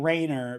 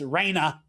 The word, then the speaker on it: Reiner: coded especially in the way the names are pronounced. It's not like we keep saying Rainer but it's Raina.